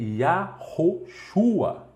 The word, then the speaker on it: Yahoshua: O verdadeiro nome do Messias é Yahoshua. Eu vou falar devagarzinho para você aprender. Yahoshua. Yahoshua. Yahoshua. Yahoshua. Isso é como se fala e não como se escreve, tudo bem?